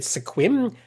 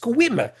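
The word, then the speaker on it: Sequim: And I said squim. No, the e is silent. It's actually pronounced squim.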